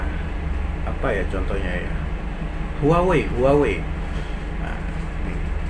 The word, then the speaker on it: Huawei: apa itu contohnya ya Huawei Huawei Hai Keh ternyata ini dibacanya Wah weh weh weh weh weh seperti itu kemudian Asus Asus Yesus